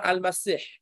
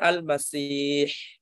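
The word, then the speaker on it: المسيح: Yang benar al-masih, mimnya di fathah, pakainya ha, bukan kha.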